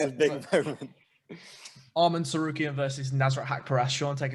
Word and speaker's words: Arman Tsarukyan: So I've been wanting everyone to hear me pronounce the name the right way. It's a big moment. Arman Tsarukyan versus Nasrat Haqparast.